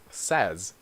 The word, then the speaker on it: says: changes a lot right the verb is say but I say you say we say they say but with he/she in it you say says if a says sound okay so for today